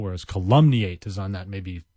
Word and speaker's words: calumniate: to pronounce you sort of have to do it a bunch of times calumny eight c al um and i eighty calumny eight